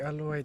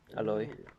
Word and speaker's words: Aloy: We're getting alloy to Genshin. Aloy. Alloy. Aloy. Aloy. Aloy. Aloe vera. How would you pronounce Aloy. A-L-O-Y? Alloy. An Aloy. Alloy. Alloy. Alloy. Yeah, alloy. Like aloha. Yeah. More or less.